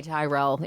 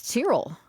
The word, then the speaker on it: Tyrrell: That's what it was and she's like, "Oh, don't even say Tyrell in Drumheller. People will lose their mind." Wow. Tyrrell. Okay. I feel like they should phonetically put that on their sign because I guarantee you everyone is saying Tyrell.